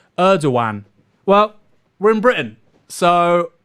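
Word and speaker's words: Erdoğan: The G in Turkish words represents a break in syllables, pronounced Erdogan.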